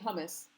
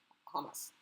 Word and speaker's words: Hamas: And I'm not saying hummus, I'm saying Hamas.